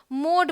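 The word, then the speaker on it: mode: तो ये क्या है, एम ओ डी, मोड पढ़ेंगे। अगर एम ओ डी होता तो ये मॉड पढ़ा जाता, एम ओ डी ई है तो मोड पढ़ा जाएगा।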